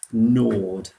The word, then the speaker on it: gnawed: Gnawed. It's got a nice silent letter in there as well.